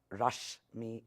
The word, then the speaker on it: Rashmi: my name is Rashmi it's pronounced rush me as in don't rush me I have been with